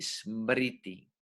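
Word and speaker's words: स्मृति: Escuchen la pronunciación, Shruti y Smriti.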